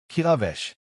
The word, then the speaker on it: Kilvesh: Her real name, Kilvesh. The pronunciation is exact. The emphasis on the second syllable of Vash, the way it is spoken in the Northern Highland dialect, the way her mother spoke it, the way no